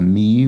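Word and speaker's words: Mii: okay customizable Nintendo Avatar a me which is uh spelled similarly to and rhymes with the name of the video game console in which they debuted the Nintendo Wii so there we go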